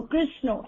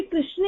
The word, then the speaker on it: कृष्ण: वो कृष्ण कृष्ण ऐसे बोलते कृष्णा तो वो कृष्णा उसको भी कृष्ण ही ग्रहण करते हैं क्योंकि उनके उच्चारण में वो शब्द ही नहीं है। लेकिन जिनको उच्चारण क्योंकि भारतीय भाषा जो ये हमारी वैदिक देवनागरी लिपि इसमें बहुत क्लियर प्रोनाउनंसिएशन है। तो इसमें से अगर आप बोलते हो तो आपको कृष्ण ही बोलना चाहिए।